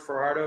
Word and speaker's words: Fajardo: the way B so I'm far Fardo is that Fardo Fardo or however you